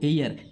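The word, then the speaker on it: heir: इसमें देखो एयर एच इ आई आर एयर में भी एच साइलेंट है।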